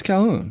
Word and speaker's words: Colquhoun: Did you see how it's spelled? No. Colquhoun. I thought it was Calhoun. Colhoun. It is. Okay. It's Calhoun. Calhoun.